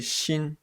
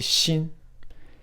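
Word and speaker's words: 心: En haut à droite, une autre clé qui se prononce aussi mu, et qui veut dire œil. En bas, on trouve la clé xin, le cœur.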